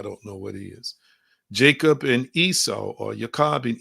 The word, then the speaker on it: Jacob: who was a father formerly known as yakob that we pronounce as Jacob and his sons were